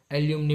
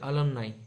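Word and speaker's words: alumni: ये जो हम बोलते हैं ना, कॉलेज में हमारा अलमनाई था, वो काफ़ी स्टूडेंट्स ऐसा भी बोलते हैं उसको कि एल्यूमनी बोलते, पर उसका प्रोनाउंसिएशन होता है अलमनाई, जो परफेक्ट होता है।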